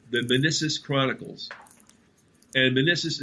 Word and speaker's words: Minisis: And Minisis is spelled M-I-N-I-S-I-S, like man ISIS.